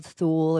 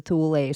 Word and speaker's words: Thule: And when you look into the Nazis and you look into the Thule or the Thule Society, depending on what way you pronounce it, which is the Vril Society, when you go all into that stuff, that's all North Pole.